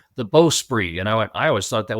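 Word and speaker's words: bowsprit: listening to his narration, and he's using, he's pronouncing the "beau-spri" and I always thought that was "beau-sprit."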